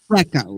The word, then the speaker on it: Deco: Deco, like Art Deco.